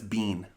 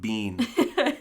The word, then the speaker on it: bean: buckle far colleen urban you didn't pronounce any of those correctly yes i did be careful if anyone gets offended by me you're in the wrong place that's bean well that's yeah you're an english speaker so i'll give you that boo fear kayleen bean i think i might